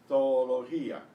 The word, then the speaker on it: zoología: Now, if you look at the next one, you'll see there's a dash between the two O's because they're actually pronounced as separate syllables properly. Zoología, zoología, zoología. You will hear probably only one O normally, zoología.